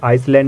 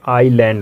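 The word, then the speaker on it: island: पहले पढ़ लेते हैं अगर किसी की स्पेलिंग में s2 लेटर आई और ल के बीच होता है तो वहां एस साइलेंट होता है आई और ल के बीच अगर एस आए तो वहां एस का प्रोनाउंस नहीं करते हैं एस साइलेंट होता है एग्जांपल देखिए जब आप किसी से कहते हो आइसलैंड क्या अभी आइसलैंड क्या है तो गैस एक्चुअली ये आइसलैंड नहीं होता आयरलैंड होता है आई और ल के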